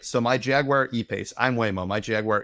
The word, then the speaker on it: Jaguar: Now you're what you're doing is your auto dealership, whoever it is, and it's pronounced Jaguar, by the way. Jaguar, Toyota, Hyundai, they become the depot, right?